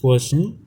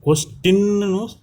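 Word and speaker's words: question: இந்த இடத்துல கொஸ்டின்னு நம்ம ப்ரொனவுன்ஸ் பண்ணக்கூடாது, கொஷன் அப்படின்னு தான் ப்ரொனவுன்ஸ் பண்ணணும்.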